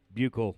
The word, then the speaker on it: Buechelman: with his dad was help me pronounce the name correctly i was trying to make it into something really weird and he comes in and goes buckle like bugle and i'm like got